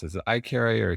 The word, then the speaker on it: Ikaria: a carry i can never pronounce is it i carry or carry it how do i pronounce it i carry i carry a coffee yes so the number